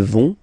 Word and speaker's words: vont: Ils vont, elles vont. Okay, remember, final T not pronounced, so you get this ON nasal here. On, vont.